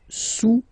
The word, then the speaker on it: sous: Le cube est sous le cylindre, okay, le cube est sous le cylindre. Don't pronounce the final S, and then this OU combination of vowels is pronounced OU, okay?